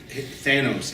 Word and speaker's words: Thanos: this out there, is Thanos. It doesn't rhyme with anus. Okay?